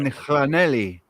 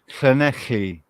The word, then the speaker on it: Llanelli: made in Llanelli, not Llanelli. It's a Welsh name, so it's right difficult to pronounce. It is Llan, isn't it? That's how you pronounce the double L. In Spanish, it would be Yanei.